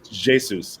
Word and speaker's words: Jesus: Xhaka, Saka, Odegaard, Martinelli, and Jesus, excuse me. The Brazilians pronounce the J.